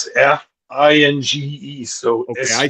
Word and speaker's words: Esfinge: Yeah, I'm not sure about the pronunciation. It's Esfinge.